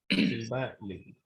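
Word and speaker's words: Sylvain Lévi: How to correct pronunciation? What is Sylvain Levy or Silva Levy? No, it is Sylvain Silva Levy. Sylvain Levy.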